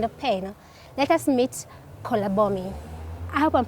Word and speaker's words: Kolabomi: well um you see every vowel in my language has three ways of pronouncing it so we have the up sound the midi sign and the lower sound so you may note them so i may not pronounce them correctly but i'm trying yes so it's um four syllables you may there are